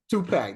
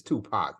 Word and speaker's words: Tupac: full Park on him two pack yeah yeah well Larry Elder said two pack and they said it's Tupac not Tupac yeah right but then